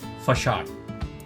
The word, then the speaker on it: facade: It is written as facade, but it's pronounced as facade.